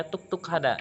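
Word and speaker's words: 똑똑하다: Jadi contohnya kayak pintar, itu kan tulisannya tok tok hada, tapi lebih sering dibacanya tuk tuk hada kayak gitu.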